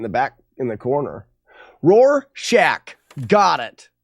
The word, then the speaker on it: Rorschach: Rorschach. Got it. Also sometimes said Rorschach. Say it however you like.